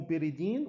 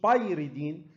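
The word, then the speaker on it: pyridine: اللي فيه نيتروجين اسمه بيريدين والواي هنا سايلنت، ما اسموش بايريدين اسمه بيريدين. يبقى الثانيه اسمها بايرول، خماسي اسمه بايرول فيه نيتروجين، السداسي اسمه ايه؟ بيريدين، مش بايريدين، بيريدين.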